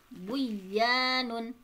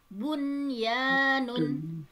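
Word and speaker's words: بنيان: Jadi tidak dibaca aduya, buyanun, siwanun, tiwanun, tetapi dibacanya izhar atau jelas. Adunya, bunyanun, sinwanun, tinwanun.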